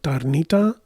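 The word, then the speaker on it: Tarnița: She's, like I said, environmental director, Corina Tarnițǎ. Although she's pronouncing it in English, Tarnita, welcomes you to the program in environmental studies at Princeton.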